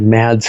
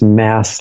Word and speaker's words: Mads: And I said Mads because it's M-A-D-S, and it's Mass like M-A-S-S would sound.